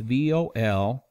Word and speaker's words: Volokh: It's Volokh.